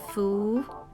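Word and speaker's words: 福: luck or blessing and in chinese the pronunciation is foo this part of the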